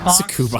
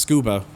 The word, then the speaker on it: Tsukuba: I've been hearing people say it's actually pronounced scuba. I always said Tsukuba because, you know, the U is there, but some people tell me it's actually just scuba. Like the T is silent.